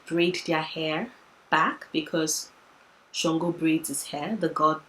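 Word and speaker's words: Ṣàngó: So technically, Shango is not spelled Shango, it's spelled Sango, but there's a mark, an indentation beneath the S to let you know that you pronounce it with a sh sound.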